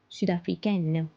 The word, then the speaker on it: Sud-Africaine: So nationalities which end with un are pronounced as N in feminine form. Sud-Africain, Sud-Africaine, Américain, Américaine. So we pronounce the last N because of E.